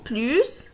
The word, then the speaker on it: plus: Mais cet S, on ne le prononce plus pour une comparaison de qualité. Si on utilise les adjectifs ou bien les adverbes, on ne prononce plus le S. On dit plus que.